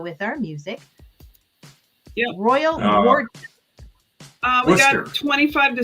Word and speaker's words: Worcester: Yeah, the English put all these letters in and then don't pronounce any of them.